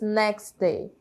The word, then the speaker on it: next: acontece essa Elisão e a gente fala apenas next Day next Day que significa próximo dia né no